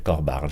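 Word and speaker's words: Corbara: Alors comme vous avez un petit peu l'habitude de ne pas prononcer les dernières syllabes, ça s'écrit comment, le couvent Corbar? C-O-R-B-A-R-A. Ah, il y a le A à la fin, oui, d'accord.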